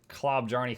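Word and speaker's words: Klobjarne: The J is pronounced with an I.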